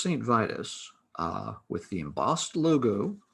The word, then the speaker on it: Saint Vitus: quintessential doom bands that begins with the letter s rhymes with titus the first saint vitus uh with the embossed